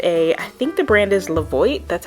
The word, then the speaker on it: Levoit: I have I think the brand is Levoit, that's how you say it, Levoit.